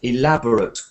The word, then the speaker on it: elaborate: what I'm saying is here it's an adjective, so the stress is at the beginning. So we have a kind of ut sound at the end. Elaborate costumes. Elaborate costumes. And when it is a verb, the stress goes to the end of the word, ate.